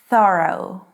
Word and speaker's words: thorough: Thorough. Or in British English, thorough.